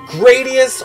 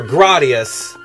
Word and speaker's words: Gradius: You either pronounce it Gradius or Gradius. I personally say Gradius, and I'll tell you why.